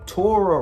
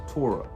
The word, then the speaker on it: Torah: you keep in Torah your Torah rhymes with aura for a reason when you keep in